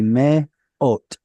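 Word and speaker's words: מאות: aleph here is starting the syllable. Its vowel is the holam vav. So it's going to be me ot.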